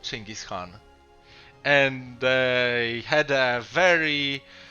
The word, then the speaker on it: Genghis Khan: that's how actually people say it in polish ching is khan so um let's stick to the mongol pronunciation so ching is khan and um this is a strategy strategy on